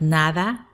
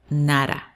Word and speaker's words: nada: at the end sound nara so instead make sure that you're actually pronouncing it take your time to pronounce it so if you didn't have the na you just say da same thing fin fin